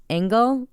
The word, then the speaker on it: Angel: in the system 40-year-old it's Angel but it's pronounced angle rendes rendes I don't